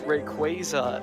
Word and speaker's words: Rayquaza: in saying it Robby's but it's no it's Rayquaza it's that's the English way to say it's it